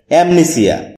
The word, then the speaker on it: amnesia: এমনিসিয়া এটাকে আমরা এমনেসিয়া বলে থাকি যার সঠিক উচ্চারণ হচ্ছে অ্যামনেসিয়া শব্দটি বাক্যে নাউন হিসেবে